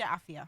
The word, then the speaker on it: Afua: Yes, Afua. Afua, and but it's spelled A-F-U-A, Afua, because in Ghana the U is pronounced as an I.